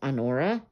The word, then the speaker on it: Honora: It's spelled like honor, but with just an A at the end. So I think it's Honora.